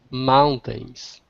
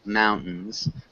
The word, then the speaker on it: mountains: if you want um sometimes you can swallow the t- sound in this word you don't have to pronounce it all the way so you can say it kind of like mountains mountains but mountains works really well as well good kako can you